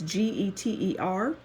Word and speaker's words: Lubie Geter: And the next child that we're going to discuss is Lubie Jeter. I think that's the pronunciation. It's Geter.